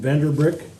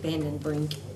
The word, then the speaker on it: Vandenbrink: This is a proposal from Fleece and Vandenbrick. Is that how you say it? Vandenbrink.